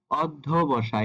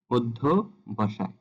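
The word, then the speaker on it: অধ্যবসায়: যাবে তেমনি কিছু শব্দ এখানে আছে যেমন অজুটা উচ্চারণ হবে অজু অয়ে শুরু হবে অর্ধবসায় এটা আমরা ছোটবেলা থেকে একটা রচনা পড়ে আসছি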